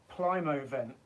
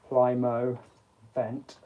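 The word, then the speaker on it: Plymovent: it yeah Prime event it took me a while to actually pronounce that I was like Plymouth Plymouth event Plymouth then is pl-y-m-o-v-e-n-t Plymouth vent um there's all kinds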